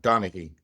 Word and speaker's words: Donaghy: I think the G is silent. Donaghy, I believe.